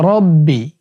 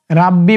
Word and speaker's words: রব্বি: চলুন এবার আমরা এই দোয়াটি শিখে নেই ইয়া রব্বি ইয়া রব্বি ইয়া রব্বি রাব্বি বলা যাবে না র জবর রবে তাহলে ইয়া